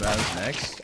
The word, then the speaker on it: MOUZ NXT: Pronounce MOUZ next. I say MOUZ NXT. MOUZ next. Either one.